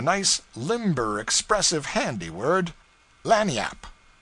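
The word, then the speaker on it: lagniappe: limber expressive handy word laniap they pronounce it lanny yap it is spanish so they said we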